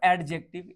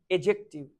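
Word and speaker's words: adjective: नॉट एडजेक्टिव, इट इज एजेक्टिव। D silent होता है UK English, ठीक है।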